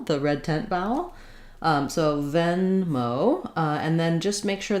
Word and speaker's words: Venmo: okay and then lastly venmo has the same stress pattern as paypal first syllable stress second syllable is also stress it's not venma but we do have a clear o diphthong here on venmo letter e in venmo is the same e sound as in zell the red tent vowel